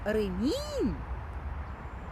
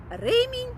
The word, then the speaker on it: ремінь: Тож ремінь. Ремінь наголос на перший склад на е - це пояс, який дуже полюбляють носити як хлопці, так і дівчата. А ремінь, наголос на останній склад - це оброблена шкіра.